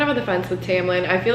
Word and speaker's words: Tamlin: Okay, yeah, it's pronounced Tamlin.